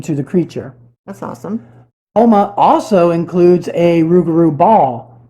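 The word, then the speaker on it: Houma: Homa, Louisiana. Is that pronounced it?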